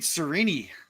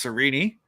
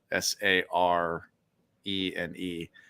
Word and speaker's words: Sarene: Chapter two, we get to meet Sarene. So, I'm going to say cuz I know while you're reading the book versus listening, it's Sarene.